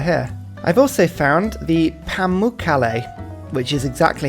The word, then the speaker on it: Pamukkale: I've also found the Pamukkale, which is exactly how you pronounce that one.